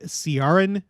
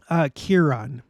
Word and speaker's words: Ciaran: I was assuming it was pronounced Ciaran because in English, using our letters and in the way that our letters are supposed to behave, that's how you would pronounce it, Ciaran. But no. It's actually Kieran.